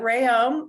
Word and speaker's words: Reaume: I let everyone know that it's Reaume, like a ray of sunshine, and ohm of electricity, although my husband says that's not really accurate. So, but Reaume, and I'm in my